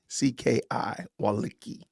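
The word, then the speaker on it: Wolicki: His name is, I don't know how to pronounce this. P-E-S-A-C-H W-O-L-I-C-K-I, Walicki.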